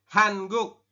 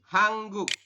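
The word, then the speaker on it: 한국: niem dan r r jadi ini tulisannya hanguk kita membacanya adalah hangguk ya hang guk seperti ini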